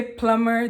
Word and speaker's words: plumber: when you you know when you say plumber the B is silent right yeah me I see